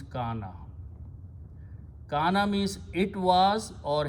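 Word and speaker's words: كان: Kawana, Waw with a fatha sounds like an alif. So we pronounce this alif and the word becomes kana.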